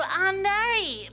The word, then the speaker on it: Arnary: sexy the hunky Anar how a Vu hello did I pronounce your last name right you pronounce it perfect scor scor D oh my